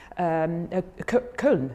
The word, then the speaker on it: Köln: Köln, you pronounce it like that, yeah?